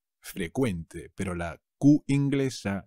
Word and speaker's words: frecuente: pero cuidado se dice frecuente frecuente pero la cv inglesa se convierte en una c que se pronuncia como una k ave frecuente los impuestos